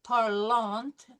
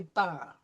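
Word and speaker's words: parlent: Okay, then ENT is for third person plural, even though it's not pronounced any different than third person singular. So we don't say parlant, we say parle.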